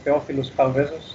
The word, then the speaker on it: Theofilos Chaldezos: Well, you've already introduced me, so I'm Theofilos Chaldezos, that's how it's pronounced.